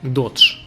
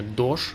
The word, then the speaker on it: Dogecoin: Проводился опрос, как же правильно произносить название данной валюты. И 57% из 1000 респондентов выбрали устоявшийся вариант Dodge. За произношение Doge проголосовали 22%. Примерно столько же, 21%, уверены в правильности обоих вариантов.